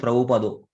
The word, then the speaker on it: Prabhupada: So in Bengali, sometimes the pronunciation becomes O. Like Prabhupada becomes Prabhupado.